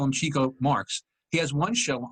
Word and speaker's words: Chico: It's pronounced Chico.